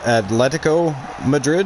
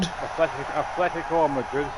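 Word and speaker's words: Atlético Madrid: Atletico Madrid? Atletico Madrid. There's no fucking H in there.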